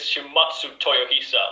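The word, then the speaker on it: Shimazu Toyohisa: introduce yourself to the people ah you always mispronounced the name my name is shimatsu toyohisa loyal son of the shimatsu clan i fought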